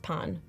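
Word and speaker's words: pain: yes bread oh and I think it's pronounced Pon oh yeah you're right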